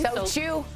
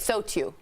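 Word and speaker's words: SOTU: So chew. That's how you say it. So chew.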